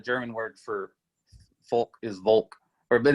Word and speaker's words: Volk: because yeah the german word for folk is volk or but it's pronounced the same way it's just the the